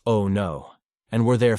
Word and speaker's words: Onu: We finally brought up at a place called Onu, pronounced "Oh no," and were there 5 days.